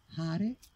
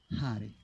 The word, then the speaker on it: Hare: Allora, Hare si pronuncia come gli olandesi, con l'H, proprio l'H aspirata. Hare, quindi è una forma di pranayama anche questa.